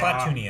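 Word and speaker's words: Klatooinians: Is it Klat or Clan? Kla. K-L-A. Well, yeah. Klatoonians.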